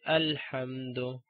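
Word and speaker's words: الحمد: So the next letter after hamzatul wasl is lam. That's why we say alhamdu.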